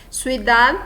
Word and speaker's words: ciudad: Ciudad também é a última sílaba mais forte.